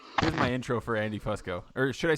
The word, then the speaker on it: Fusco: uh no but my it's technically pronounced Fusco but nobody ever says that well I'm going to